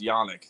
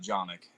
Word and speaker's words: Yanich: I'm trying to get better with names, and The one I'll correct you on is it's Yannick, not Jonick.